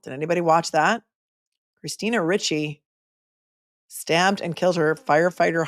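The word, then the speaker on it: Ricci: right Christine Richie Richie but they pronounce it Richie r i CCI it was Marshfield thank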